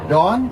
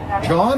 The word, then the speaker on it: John: Am I saying it correctly? John, yes. John, like Jonathan.